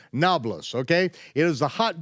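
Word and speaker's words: Nablus: is modern day noblis why it's called noblis is because the Arabs can't pronounce a p it's really neopolis but they can't pronounce neopolis so they say nablas okay it is the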